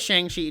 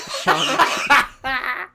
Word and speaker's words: Shang-Chi: It's and then it went from trust me, I thought it was Shang-Chi 2. Shang-Chi 2. then in the movie they pronounce it Shang-Chi.